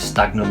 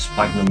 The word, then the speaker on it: sphagnum: I always get it wrong, I want to call it stagnum moss, but it's not, it's sphagnum moss.